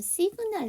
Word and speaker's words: 시그널: 여기 앞에서 보면 시그널 나왔잖아요. 시그널이 사인에서 파생이 된 건데요. 시그널은 사인에다가 L을 붙인 거잖아요. 그런데도 불구하고 여기서 보시면 그 G 사운드가 발음이 돼요.